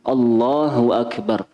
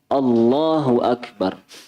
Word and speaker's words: Allahu Akbar: Terkait dengan takbir ini, yang perlu diketahui para jamaah yang dirahmati oleh Allah, tadi nggih, cara bacanya seperti itu, Allahu Akbar, bukan Allah, tapi Allah, Allahu Akbar.